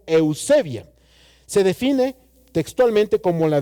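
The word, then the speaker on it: εὐσέβεια: La palabra piedad viene de una raíz griega que se llama o se pronuncia como eusebia.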